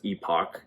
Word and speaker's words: Epoch: this is reported by the epic or epoch times um i've heard it pronounced otherwise but i believe that's epoch uh it seemed like